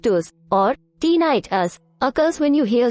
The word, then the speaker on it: tinnitus: T us pronounced t h to or tiit us occurs when you hear sounds that aren't in